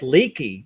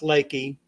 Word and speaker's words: Lakey: kind of surprised uh when you look at the title of it it looks like leaky so you're it looks